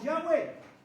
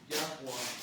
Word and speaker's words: Yahua: simbolismo y ha he lo pronuncian erróneamente como Yahweeh. Ya. Entonces, eso va en torno al nombre. Listo. Y el correcto para pronunciar su nombre es Yahua.